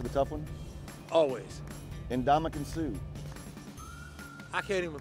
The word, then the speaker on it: Suh: Ndamukong Suh. I can't even pronounce that. we'll say that again? No clue. Ndamukong Suh. I don't know. S-U-H for Sue.